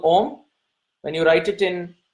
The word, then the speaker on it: Om: You see, there are 4 syllables to the Omkar. When you write the syllable Om, when you write it